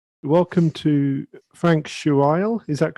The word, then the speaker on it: Schuil: welcome to Frank Schuil. Is that correct? I won't. I won't hurt you by having to pronounce my name. It's Schuil.